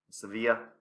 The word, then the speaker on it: Sevilla: You've got Sevilla's football team, Sevilla, if you want me to say it properly, Benfica, Jesus Christ, even Italy's national team.